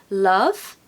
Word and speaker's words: love: With love, we have an sound, not an o. Now, you probably think that sounds the same, but listen to the difference. Love, love, love, love. So the second one is not the pronunciation. The first one is what we want. Love. It's what I call the umbrella U.